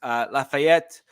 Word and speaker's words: Lafayette: Lafayette, yes, I did pronounce that with a French accent. That's ETTE, which is typically French, so just deal with it.